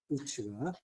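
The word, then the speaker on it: עוּץ: 우스는 이제 우츠라고 하는데 이게 이제 나무가 많다는 뜻이에요. 우츠가.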